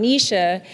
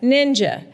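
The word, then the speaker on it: Knyja: And in the video, I said, I'm Nisha, but it's spelled K-N-Y-J-A, that looks like ninja, right? And so oftentimes people still call me Ninja, which, Milton, I am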